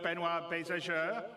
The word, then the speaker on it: Benoit Beauséjour: And without me waffling on, I'd like to bring CIG's CTO, Benoit Bézageur.